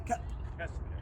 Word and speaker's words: Kesler: How do you say your last name? Kesler. Kesler.